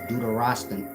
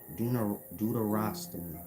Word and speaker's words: deuterostomy: Y'all heard of Deuteronomy, but y'all never heard of Deuterostan. How do you pronounce that? Just look up in science Deuteronomy. Not Deuteronomy, but Deuterostomy.